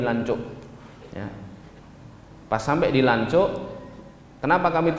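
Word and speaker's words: Lanzhou: turun di langsung ini ini bacanya bukan lanjut tapi lancuk pas sampai dilancok Kenapa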